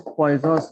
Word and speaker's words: Poisson: We'll start with next topic today, that is always Poisson's ratio. Poisson's ratio लिखने के time हम इसको poisons लिखते हैं, but that is not a poison. It is Poisson's. The correct pronunciation is Poisson's ratio.